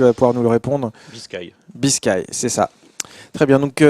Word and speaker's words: Biscay: C'est est-ce qu'on prononce Biscay, est-ce qu'on prononce Biscay? Tu vas pouvoir nous le répondre. Biscay, c'est ça.